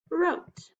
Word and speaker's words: wrote: WR, silent W, the word is wrote.